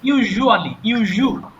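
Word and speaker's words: usually: এটা ইউজুয়ালি, হ্যাঁ, এরকম একটা জ সাউন্ড হবে মুখের মধ্য থেকে, ইউজুয়ালি এরকম সাউন্ড হবে।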